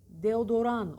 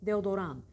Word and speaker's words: deodorant: Renault deodorant öyle bir bakın deodorant yazılır de o Duran okunur sonunda T yok deodorant deodorant ano Adana'ya geçerken